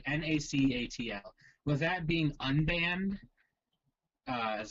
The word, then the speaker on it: Nacatl: But yeah, so actually, there's a new deck out there with not Wild Nacatl. I don't know how you pronounce that. Nacatl and Nacat. It's like Nacatl.